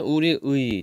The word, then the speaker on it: 우리의: 청소년은 우리의. 자 얘는 조사네. 그쵸? 조사니까 원래는 우리의로 발음하는 게 원칙이지만 애로 발음하는 것도 허용하죠.